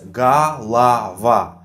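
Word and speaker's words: голова: ah now it's clear so basically galava is pronounced as gah lava gah lah lah lah because according to a rule and stressed or is pronounced as ah there is a bunch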